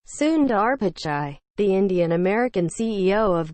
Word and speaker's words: Pichai: science and transportation committee pachai is pronounced pitch-like in baseball and chai like the latte or p i h chai but lawmakers came up with endless variations addressing him as mr picky mr pishid and more